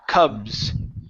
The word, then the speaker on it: cubs: okay good in here give me a good a sound cuh Cubs Cubs ok good to the